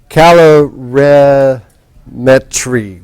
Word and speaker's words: calorimetry: Calorimetry, right?